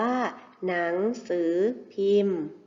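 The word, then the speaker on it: หนังสือพิมพ์: ข่าว สาร ต่าง ๆ หนังสือ พิมพ์ มี พ พาน การันต์ นะ คะ อ่าน ว่า หนังสือ พิมพ์ ภาพ นี้ คือ โทรทัศน์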